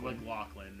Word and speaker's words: McLachlan: That's Sarah McLachlan. McLaughlin, right? Or McLaughlin, or McLaugh. how you pronounce her McGlock.